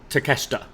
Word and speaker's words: Takeshita: I don't know how to pronounce his first name. Konosuke Takeshita? Takeshita.